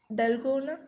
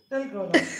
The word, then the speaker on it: Dalgona: Naga Kannada irundhittu Telangana coffee pannitom. You mean Dalgona? Yeah, Dalgona. நானே அது கரெக்டா pronounce பண்றேன்னே தெரியல.